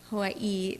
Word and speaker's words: Hawaii: and by the way the people in hawaii they say like hawaii they say it like very cool i don't know yeah it's like hawaii yeah so we got